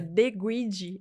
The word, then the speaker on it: De Guidi: É um trocadilho que eu fiz com o meu sobrenome, que embora seja italiano, já vou deixar isso claro aqui, que é De Guidi, a pronúncia.